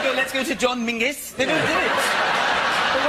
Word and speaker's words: Menzies: In fact, you should pronounce it John Mingus.